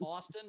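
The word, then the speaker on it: Ashton Kutcher: It's Ashton Kush. That's good. Great game. Pronounced Austin, but I get what you're saying.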